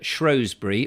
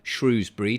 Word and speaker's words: Shrewsbury: seeing harriet up in shrewsbury or shrewsbury depending on how you want to pronounce it of course um she